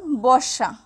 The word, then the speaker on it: বর্ষা: যেমন বর্ষা, বর্ষা কথাটি যখন আমরা বলি বর্ষা আমরা কিন্তু বসা বসা বলি না, আমরা বলি বর্ষা।